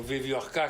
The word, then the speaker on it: Wieviorka: Michel Viviorca, ou Viviorca, como se fala na França, é um sociólogo francês de família judia que sobreviveu ao Holocausto.